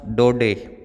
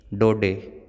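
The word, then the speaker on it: Daudet: The last lesson अंतिम पाठ अल्फोंस डोडे, इसमें टी साइलेंट है, DAUDE डोडे, अल्फोंस डोडे का लिखा हुआ ये पाठ है।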